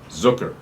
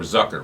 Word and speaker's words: Zucker: by the name of Jeff Zucker, or Zucker, whatever you want to say. It rhymes with some other things.